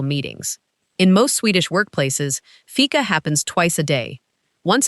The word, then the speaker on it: fika: Fika. It's spelled f i k a and it's pronounced fika.